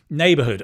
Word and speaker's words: neighborhood: Neighborhood. Oh, you u um yeah, Americans without the U. Excuse me. A neighborhood. You can see the stress is on the nay.